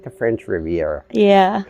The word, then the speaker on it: Riviera: Yes, Riviera or Riviera? yeah, it's actually Riviera, but most people in the Philippines call it Rivera, so that's all right. Yeah, Gabayan yeah. Riviera, just like the French Riviera.